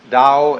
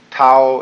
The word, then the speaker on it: Tao: is Paul the da Tao pronounced Dao in the Mandarin dialect Tao in the changhai dialect